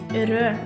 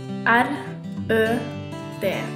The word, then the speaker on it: rød: This is the color red in Norway we pronounce red like rød we Spell red r ø d try it rød This is a color yellow